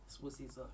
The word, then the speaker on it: Sibusiso: Yeah, Sibusiso, it's Ndebele, so yeah.